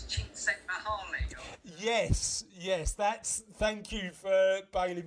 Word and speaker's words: Csikszentmihalyi: Can you pronounce that surname? No. I believe it's Csikszentmihalyi.